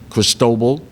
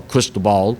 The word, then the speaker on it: Cristobal: You think back to Tropical Storm Cristobal, or Cristobal, depending on which pronunciation you prefer.